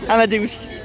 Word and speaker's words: Amadeus: Ça se prononce bien comme ça. Sinon, j'allais dire Amadeus. Non, Amadeus. Amadeus.